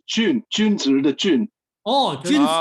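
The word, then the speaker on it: 君: No, in Mandarin it's Jun, Junzi the Jun. Oh, Jun, Jun. gentlemen. Oh, okay. Okay, so Mr. Jun. Guan, I don't know if you're Cantonese, but Guan is the Cantonese pronunciation of Jun.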